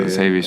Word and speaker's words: Latavius: Latavius? Oh, Latavius. Okay, Is it Latavius? Yeah, Latavius Murray.